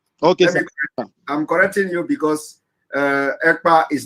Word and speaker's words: Ekpa: name is not Igbo, and my name is not Akpan. My name is Ekpa.